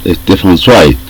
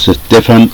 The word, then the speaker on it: Stefan: nombrado en algunas ocasiones corrigieron tamb los amigos alemanes porque yo pronunciaba Stefan y en realidad eh Me dicen que la manera correcta de hacerlo es Stefan bueno esta vez vamos